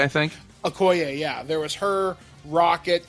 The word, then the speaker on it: Okoye: You see, I can't pronounce the character's name from Wakanda, Oki or something? Okoye, I think. Okoye, yeah.